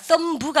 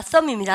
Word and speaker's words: thumb: 여러분 부 그러면 안 돼요. thumb부가 아닙니다. thumb입니다. 아시죠?